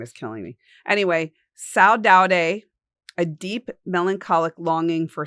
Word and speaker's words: saudade: Saudade, but it's spelled S-A-U-D-A-D-E. Saudade. It's saudade is what it says in the phonetic.